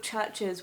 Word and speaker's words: Chvrches: fact about their name the reason that they're called churches with a v instead of a u is because they were